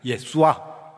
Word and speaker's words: 예수아: 원문으로 뭐냐? 신약 성경의 원문으로 뭐냐 하면 예수와 이렇게 됩니다. 예수아.